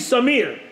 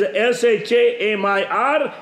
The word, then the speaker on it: Shamir: you can spell as s h a m i r s a m i r s a m e e r you can pronounce whichever way you want but my name is is Shamir and it is which